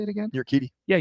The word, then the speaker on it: Urquidy: Urquidy. Yeah, Urquidy.